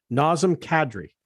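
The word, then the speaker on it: Nazem Kadri: enough we got to get his name right nasm cadry it's not cadre it's cadre first of all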